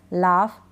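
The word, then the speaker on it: laugh: टफ, रफ, लाफ, लाफ्टर। अब यहाँ पर हम GH को क्या पढ़ रहे हैं, फ पढ़ रहे हैं।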